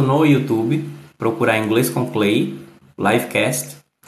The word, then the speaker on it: Cley: vivo, vai no TikTok e procura Inglês com Clay. Clay é Cley. E lógico, você pode acompanhar a gravação tanto no YouTube, procurar Inglês com Clay, Livecast, e nas plataformas de distribuição de podcast.